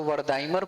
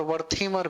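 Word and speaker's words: Wertheimer: इसको वर्दाइमर पढ़िए, टीएच को द भी पढ़ते हैं और थ भी पढ़ते हैं भारतीय उच्चारण में। तो वर्दाइमर भी होता है और वर्थीमर भी होता है।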